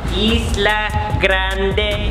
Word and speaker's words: Isla Grande: of Grande I like how do you say it Alexa hi Lebrun Isla isla grande on New Year's I've